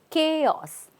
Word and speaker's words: chaos: language right now ch a lot of people say CH but here the CH is C right so chaos it's not a o o a o but it's O chaos chaos repeat chaos